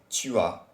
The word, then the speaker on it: tu as: If you want to say you have, you would say tu as, which is TUAS. So let's hear the pronunciation.